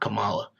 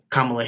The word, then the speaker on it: Kamala: It's not Kamala. Kamala Harris, how people have reacted to that.